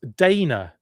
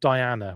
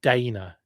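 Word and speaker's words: Daina: It's Dana, D-A-I-N-A, not Diana, which is D-I-A-N-A. She's Dana, is the way that you pronounce that name.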